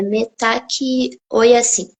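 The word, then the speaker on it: Mitakuye Oyasin: É assim que pronuncia? É metaqui, oi assim.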